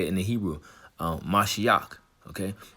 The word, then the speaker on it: Mashiach: And that's how you say it in the Hebrew, Mashiach.